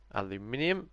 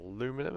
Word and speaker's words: aluminium: he's gone for the hydro aluminium or aluminum as it probably is pronounced that looks great as